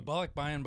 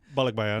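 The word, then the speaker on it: balikbayan: a bollock buy-in box is, I'm saying it wrong. Bollock. No, I think you're saying Bollock buy-in. bollock bayan.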